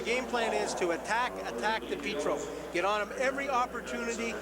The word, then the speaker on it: DiPietro: In Sault Ste. Marie, DiPietro's hometown, the pronunciation is most certainly DiPietro. In Southern Ontario, they've changed it to DiPietro, and Rocky DiPietro's gone